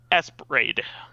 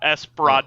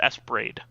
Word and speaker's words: Esprade: Well, It is pronounced Esprade, not Esperade okay. or anything like that. It's Esprade. So it's supposed to be like ESP Raid, I guess.